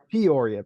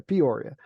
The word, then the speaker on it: Peoria: I don't know why it takes me so long to understand like how that's pronounced because I'm not from there, obviously. Yeah. But Peoria. Peoria.